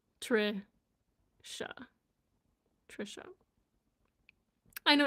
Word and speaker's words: Tricia: but it because um the way my name is spelled is not how it sounds. So, but this is how it sounds. Trisha.